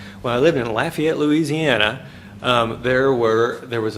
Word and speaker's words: Lafayette: lived in lafayette louisiana and that's how you pronounce it lafayette when i lived in lafayette louisiana there were there was a rink for